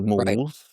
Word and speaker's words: Moules: I don't know whether to pronounce the S or not. Well, I pronounce the S just because that's how they pronounced the island that I kind of named it for.